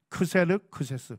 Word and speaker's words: 크세르크세스: 그러니까 히브리어 발음으로 할 때는 아하수에로, 그리스 발음으로 할 때는 크세르크세스, 동일한 인물입니다.